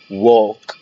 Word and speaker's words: walk: talk ال هنا silent، walk ال هنا silent، small، whole.